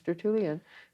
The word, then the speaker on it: Tertullian: his name was listed It's spelled just the way it sounds. Stratulian t e r t- u l l i a n.